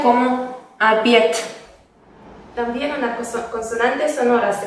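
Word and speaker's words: обед: O la palabra abiet, que significa cena, se pronuncia como abiet.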